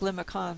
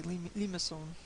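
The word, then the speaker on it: limaçon: is a type of limousine it looks like lima khan but i've seen the pronunciation in the books say limasson so there you go it's a type of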